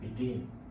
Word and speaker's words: begin: The stress for table is on the first, doctor is on the first, about is on the second, and begin is on the second.